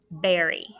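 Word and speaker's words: bury: B-U-R-Y, berry. And what's that one? You dig a hole, cover it up.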